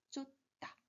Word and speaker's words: 쫓다: 그래서 이것도 쫓다, 쫓다 이렇게 발음해 주셔야 됩니다. 그래서 자음과 자음이 겹칠 때는 뒤에는 된소리가 나기 때문에 이렇게 된소리 받침, 쌍디귿을 써 주셔야 합니다. 그래서 쫓다, 쫓다 이렇게 소리가 납니다.